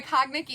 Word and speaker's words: Cognac: I think in the Cognac? Cognac? That's how you say that? Cognac. You know, we all learn something every day. I bet a bunch of people say cognac because that's how it's spelled.